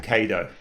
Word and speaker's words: Cado: I don't care how you pronounce it, but I pronounce it Cado.